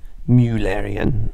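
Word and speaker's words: Müllerian: using a strategy called muellerian mimicry this umlaut here over the you means mullerian um it's a german pronunciation but um it's saying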